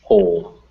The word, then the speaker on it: whole: Yeah, it's written with a W, but it's pronounced with that H, whole.